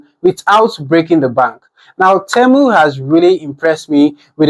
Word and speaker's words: Temu: Why are you saying TEMU? I just read the brief again that they sent me. It's actually TEMU. It's not TEMU. The pronunciation say TEMU.